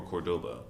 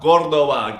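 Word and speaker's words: Córdoba: it's from Cordoba. But the guy Cordoba. was Cordoba. Jesus Christ. Accent on the O.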